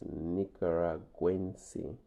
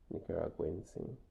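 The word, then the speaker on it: nicaragüense: If he comes from Nicaragua, he is Nicaraguense. Nicaraguense. Note the accent on the U.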